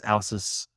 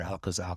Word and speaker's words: Alces: the genus and species, it's Alcis, or Alcus, depending on your Latin pronunciation.